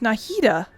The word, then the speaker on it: Nahida: Oh, it's pronounced Nahida.